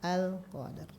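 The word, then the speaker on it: القدر: Di sini ada alif lam yang dibacanya harus jelas. Betul, masya Allah, al-qamariyah. Jadi dibacanya jelas al-qadar.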